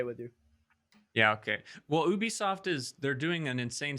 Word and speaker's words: Ubisoft: old are you yeah I pronounce it Ubisoft it's Ubisoft Ubisoft okay Ubisoft it's not Ubi ah drink more water